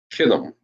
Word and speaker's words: Kittim: This is how Italy is pronounced in the Hebrew. Uh-oh. There we go. Kathayam. Kathayam. That's Italy. Kathayam. Known as Kittim in the Bible.